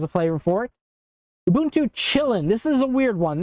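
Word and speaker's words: Kylin: And it's pronounced Chillin', not Kailin. It's Chillin', I think. Somebody who speaks Chinese is going to come across this video and be like, "Oh my god, you butchered my language," and I'm sorry. I don't speak Chinese.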